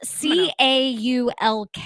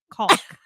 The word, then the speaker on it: caulk: It's spelled C-A-U-L-K, right? Caulk. We're gonna say it the proper way.